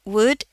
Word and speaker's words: would: Eh, versi strong-nya jadi would. W would. L-nya enggak ada ya.